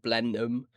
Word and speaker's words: Blenheim: Blenheim.